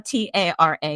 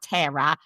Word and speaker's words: Tara: And it's Tara, T-A-R-A. You may mispronounce it Tara. It's not Tara.